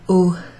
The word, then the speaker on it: au: What's that O sound? Let me write it down, I'll show you. You might recognise that one. So when I say O, comment ça s'écrit? O? O. Like in au revoir. O. A, U. Au.